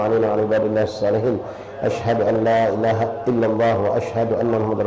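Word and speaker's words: أشهد أن لا إله: Satu lagi poin ya, yang banyak kita salah dalam pengucapan asyhadu an la ilaha. Banyak yang haknya dibuang. Antum nanti coba praktek, jangan dipaksakan.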